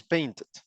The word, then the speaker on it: painted: it's the Si el verbo ya termina en T o D, uh, entonces la pronunciación es id.